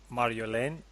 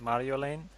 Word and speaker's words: Marjolein: me the story then Mario Lane am I pronouncing that all right Mario Lane yeah I would say put less effort in because home like Marin